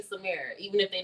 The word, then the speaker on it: Samara: All right, so Samara is how you say my first name.